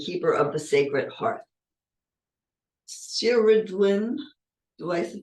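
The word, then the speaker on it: Cerridwen: the flame and Keeper of the Sacred Heart shiridwin do I pronounce that right here I would win okay she from the Welsh tradition is the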